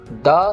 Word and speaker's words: the: द sound is used before consonant sound.